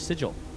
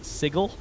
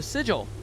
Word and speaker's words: sigil: now, I think about how Matt Mercer mispronounced sigle for like 20 episodes. Shout out to Critical Role, though. It's been wildly entertaining. I get the hype. Anyways, the sigil.